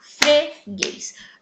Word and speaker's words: freguês: Qual sílaba foi pronunciada durante mais tempo? Isto mesmo, gays. Ou seja, gays é a sílaba tônica da palavra freguês.